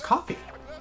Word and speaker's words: Ko-fi: It's pronounced coffee.